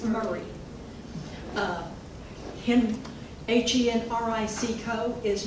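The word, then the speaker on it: Maury: pronounced like they're spelled m-a-u-r-y county in tennessee is not mari it's murray uh him h-e-n-r-i-c-co is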